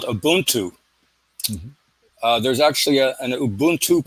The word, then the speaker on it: Ubuntu: Well, that African word, in case you're interested, is called Ubuntu. Mm-hmm. There's actually an Ubuntu party in South Africa today. The word is spelled U, B as in boy, U, N